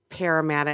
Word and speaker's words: Parramatta: I did want to give a shout out to the folks over at the Parramatta. And am I even pronouncing that?